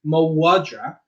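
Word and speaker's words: mhadra: Now, if you imagined Irish being perfectly phonetic, where we replace this MH with a W, because that's how it sounded out. Sounded out as mawadra.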